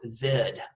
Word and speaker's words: Z: The letter Z, if you're doing your alphabet, is pronounced Zed here.